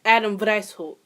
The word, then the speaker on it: Weishaupt: Adam White. Oh, Lord. Is that German? Wow, it is German. Wow, I should probably fucking know that. So, the founder was actually Adam Weishaupt.